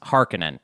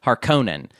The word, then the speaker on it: Harkonnen: yeah their house their house or their health harkonnen god I always pronounce it incorrectly I wanted to be called har conan either people say that but the audio book